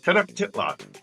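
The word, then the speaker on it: Tenochtitlan: captured Tenon oh how do you say that tenof titl there you go ten titl the capital of the Aztec empire correct although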